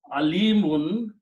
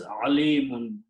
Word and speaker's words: alimun: Make sure you don't pronounce this alimun. Differentiate pronouncing alif and hamza, alif and ain. When you pronounce with ain, it means knowledgeable, alim. But when you pronounce with alif, it becomes painful.